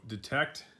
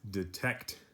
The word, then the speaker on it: detect: that I detect so detect is pronounced detect detect so now you try to say it detect stress or a stronger sound is on the second syllable TechEd detect and this